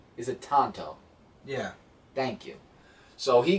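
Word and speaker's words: Tonto: if I say his name right is it Tanto yeah thank you so he goes after them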